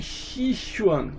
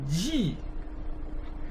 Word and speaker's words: Tai Ji: Você vê por aí, por exemplo, as pessoas falando Tai Chi Chuan, né? Isso aqui não é Chi, é Ji. Não é Chi nem Chi, é Ji. Então é Tai Ji Chuan.